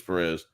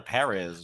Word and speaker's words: Perez: her name was Perez Master Chief said her name was Perez but that girl who was in the training with her just mispronouncing the on her name calling her parz well maybe it's [